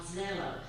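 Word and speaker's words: Xello: The junior high and high school have a career program called Zello, spelled like Jello, but with an X, X-E-L-L-O.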